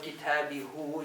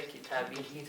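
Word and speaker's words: كتابهِ: instead of kitabihu, you just say kitabihi to make it pronounce better.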